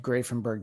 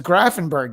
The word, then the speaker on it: Grafenberg: Joining me now is Bob Madsen of Grafenberg Disciples.